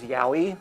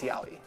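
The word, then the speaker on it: yaoi: I think it's Yowie, is how it's pronounced.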